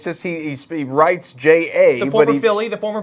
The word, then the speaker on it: J.A.: but he pronounces it J, as in just like J. That's Jason, stupid. Jacob, Jake. Yeah, it's just J.